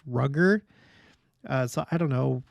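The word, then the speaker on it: Rudger: Young Lorenzo Snow and someone said that this name is pronounced rugger uh so I don't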